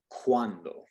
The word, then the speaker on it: cuando: Now, if it's followed, if it comes after the letter C and is followed by either an I or an A, then it turns into a W, like our W sound.